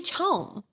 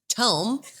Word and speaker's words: Tom: And she's like, but no, it might be Tome. Nope. Yeah. No one ever with the name Tom has ever been pronounced Tom. It's Tom.